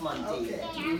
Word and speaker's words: Montague: I pronounce my name Montague. You know this Montague? Yeah, if you go to Guyana, it's pronounced Montague.